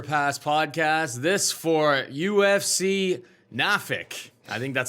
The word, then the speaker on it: Norfolk: the dog or pass podcast this for UFC Norfolk I think that's how the locals say it nor Norfolk Norfolk definitely not Norfolk